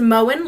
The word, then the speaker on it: Moen: Well, it's pronounced Moen, like you do to the lawn.